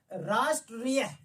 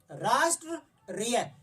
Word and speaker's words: राष्ट्रीय: और आप इसका उच्चारण कीजिए, राष्ट्रीय, राष्ट्रीय, यानी कि जिस लेटर पे चढ़ा होता है, जिस लेटर पे चढ़ा होता है उसके बाद में जो है इसका उच्चारण होता है।